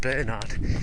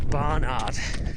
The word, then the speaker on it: Barnard: it really ah so I got the name wrong earlier I said I think I said Bernard it's Barnard sorry drum field running club